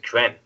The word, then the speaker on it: Kren: Is that Kreen? Is that how you say that? I pronounce it, for myself, I pronounce it Kren.